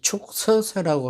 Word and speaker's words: 축서사: 근데 이제 축서사라고 하니까, 왜 축이라는 독수리 취자를 쓰고 한자로는 왜 축이라고 하느냐고 하는 분들이 많은데, 저는 이유를 잘 모르겠습니다만, 어쨌든 불교에서는 독수리 취자는 축으로 발음합니다.